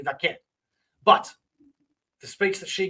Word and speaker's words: Vaquer: The speech by Stephanie Vaquer, and I know that's not how you pronounce it. It's Stephanie Vaquer.